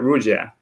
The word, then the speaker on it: Ruggia: today we have uh so let's celeste uh rudya is that did i say it correctly yep